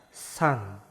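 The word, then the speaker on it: 산: Terus yang keempat yaitu ada siet, s, a, sa, ada konsonan akhir nien, n. Berarti dibaca san.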